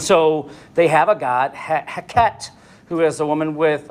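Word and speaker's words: Heqet: And so it's a god by the name of, I'm going to pronounce it, Heket, H-E-Q-E-T, Heket.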